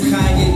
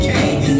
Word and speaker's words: Kanye: Now all I need is y'all to pronounce my name as Kanye, but some of our plastics still say Kane.